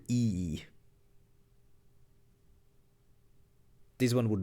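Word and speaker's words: Ii: It's spelled as as I I is it's just it's just the letter I twice pronounced E.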